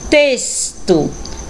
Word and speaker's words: texto: Texto.